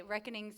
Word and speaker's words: Wreckonings: We have, and I'm going to say Reckonings, it's spelled Wreckkonings, because I love a pun.